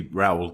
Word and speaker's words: Rowell: Joining us today is Rowell. That'll do. How's the pronunciation? It's actually Rowell, but Rowell?